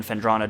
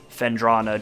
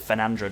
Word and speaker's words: Phendrana: I always call it Phenandra Drifts. And then I actually sat down and read it. I'm like, wait a minute, I'm wrong.